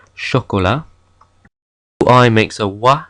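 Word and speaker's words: chat: sound exle we have ch H which in French makes a sh sound like in sha I makes a wa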